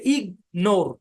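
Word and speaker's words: ignore: এই বরাবর ভাগ হবে তাহলে এটা ইগনোর সিলেবলটা কিন্তু আলাদা আলাদা সিলেবলের দুইটা জিএম দুইটাই উচ্চারণ হবে এখানে কোন সাইলেন্ট মাইলেন্ট থাকবে না কিছুক্ষণ আগে যে উদাহরণগুলো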